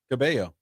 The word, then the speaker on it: Cabello: Cabello. Camilla. What? Camilla Cabello. Camilla Cabello. Or is it? See? Yeah. One of them you don't pronounce the L's, the other one you do.